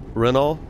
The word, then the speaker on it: Renault: without the l oh it's just renault renault like without the tea right yeah kind of